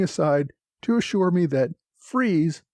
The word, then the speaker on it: Fries: to assure me that freeze not fries is the correct pronunciation so so much for